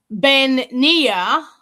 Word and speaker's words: bean-nighe: And different clans over here when you do the Let me get the correct pronunciation. Bean-nighe, which is our version.